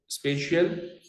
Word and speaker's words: spatial: स्पेशल नहीं कह रहा हूं, स्पेलिंग को चेक कर लो. स्पेशियल arrangement of atoms.